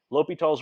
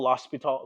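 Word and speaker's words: L'Hôpital: Sometimes it's spelled, it looks like hospital, l'hospital, but it's not. It's L'Hopitals. It's French. Okay?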